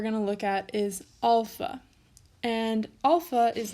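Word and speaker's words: ἄλφα: Notice that I'm saying alpha, not alpha. That's because that's how it's pronounced. I know that in sort of modern times, people tend to say alpha, but if you want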